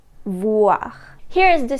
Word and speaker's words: voir: The sound wa can be spelled with the letters O-I. The way you pronounce this sound is the same way as the word what in English, this wa sound.